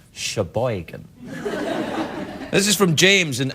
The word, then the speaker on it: Sheboygan: right let's just rumor is that how you say it Sheboygan well unless you're doing this your boy can accent and it's Sheboygan this is from James